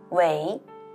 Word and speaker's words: 为: 诛地灭，这个为啊，应该要念成为，是修养修为做出来的意思。